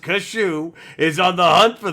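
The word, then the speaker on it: Kasshu: Gundam fight and neo-japan's domon Domo now it's pronounced kashu is on the hunt for the devil Gundam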